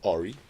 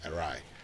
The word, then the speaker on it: awry: And so if you want to say it right, please, it's not ori, but it's awry. And that's how you say it right.